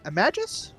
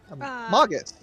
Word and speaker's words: Magus: Like, oh, Imagus? No, that's not how you say that. Magus. No. Traditionally, I've always heard it pronounced magus, but it's one of those words that it depends on where you hear it from.